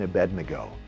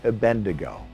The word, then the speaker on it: Abednego: Imagine your child easily learning how to pronounce Shadrach, Meshach, and Abednego. Notice I didn't say Abednego.